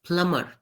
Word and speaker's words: plumber: the correct pronunciation is plumber the B is silent Whenever there is a b after the letter M the B becomes silent which is why it